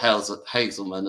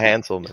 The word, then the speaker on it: Hanselman: Yeah, Scott Hazelman as well. Yeah, have I pronounced that right? Yeah, Hanselman. Yeah, Hanselman.